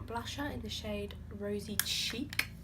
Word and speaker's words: Chic: I'm just going in with my Soap and Glory blusher in the shade Rosy Chic. Chic, not cheek.